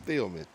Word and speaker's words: Toots Thielemans: It's like the receiver, Thielman. Oh, so that's probably what it is, Thielman.